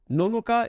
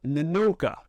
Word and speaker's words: Nonoka: don't drink coffee anymore and nonoka is it's not nanoka I'm sure she probably